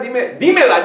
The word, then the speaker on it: dímela: But if I say, dime la verdad, instead I just say, dime la verdad, dímela, dímela, dímela, okay? Well, if I don't accent that, dímela, dímela, tres sílabos, all right?